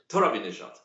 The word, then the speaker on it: Torabinejad: Mohammed Torabinejad.